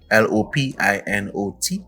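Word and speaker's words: Lopinot: a place named lupino l-o-p-i-n-o-t lopino it's pronounced and um we're here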